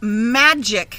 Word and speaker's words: magic: "Magic has a soft G like Jim and a hard C like cup," she said.